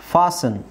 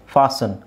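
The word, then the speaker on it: fasten: T silent ಆಗುತ್ತೆ ಲಿಸನ್ ಫಾಸನ್ ಇಲ್ಲಿ T silent ಆಗುತ್ತೆ ಓಕೆ ಲಿಸನ್ ಫಾಸನ್ ಲಿಸನ್ ಲಿಸನ್ ಅಂದ್ರೆ ಕೇಳಿಸಿಕೊಳ್ಳುವುದು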